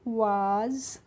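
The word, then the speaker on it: was: ठीक है, तो डब्ल्यू ए एस है तो इसको हमें पढ़ना है वाज, और वाज की हिंदी मीनिंग होती है था।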